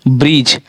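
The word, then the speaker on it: bridge: से पहले आया डी, अगर जी से पहले डी आता है, देखिए डी है, डी हमारा जो है सो जी से पहले आ रहा है, डी हमारा जो है सो जी से पहले आ जाता है तो हमारा साइलेंट होगा। देखिए ब्रिज, अगर आप ब्रिज बोल रहे हैं तो ऐसा लगता है कि इसमें डी है ही नहीं।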